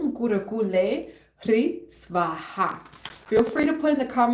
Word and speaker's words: Hrih: So Om Kurukulle Hrih, so that H over there is not pronounced, it's just Hrih Svaha.